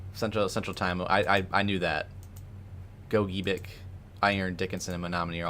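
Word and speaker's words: Gogebic: All right, Julie, I'm going to listen to your pronunciation here real quick. Go-gi. Got it. Go-gi-bic.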